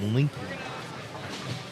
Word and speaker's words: Linky: This is Linky. That's how you say it. Oh, it would be spelled L-I-N-K, not L-I-N-K-E, if it wasn't Linky. It's Link. You don't know.